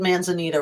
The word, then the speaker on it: Manzanita: Manzanita. Okay, I said Manzanita right, and then Nehalem.